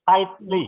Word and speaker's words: tightly: Jadi huruf G sama H-nya nggak dibaca. Jadi tightly ya. Bukan tight tapi tightly ya.